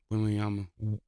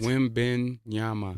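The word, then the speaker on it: Wembanyama: Wimbenyama. What? Wimbenyama. Wimbenyama.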